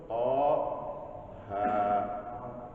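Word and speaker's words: طه: Yang 2 huruf to, ha. Ada yang bacanya to, ha.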